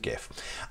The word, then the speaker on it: GIF: stands for graphics and that's pronounced graphics not a giraffe --ax which sounds like something that a giraffe would do so the Kate would gif so there we are